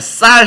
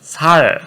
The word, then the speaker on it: 쌀: 딱 그냥 쌀 해봐. 그러면 살. 그러면 바로 이제 죽임을 당하는 거죠.